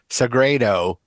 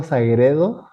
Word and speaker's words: Sagredo: Did I pronounce How badly did I mispronounce your last name? It's kind of good. It's Sageredo.